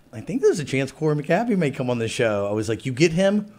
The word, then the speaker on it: Cory McAbee: We're here with Corey McAbee today. Did I say it right? That was perfect. Okay, great. I'm known for mispronouncing names sometimes on purpose for fun, sometimes because I'm a fool.